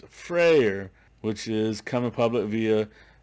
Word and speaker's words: Freyr: next up is frayer i've been saying it wrong the whole time i said i said friar it's frayer which is coming public